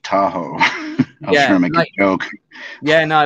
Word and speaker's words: Tahoe: yeah but that's pronounced Tahoe not tahu it's Tahoe no I know but like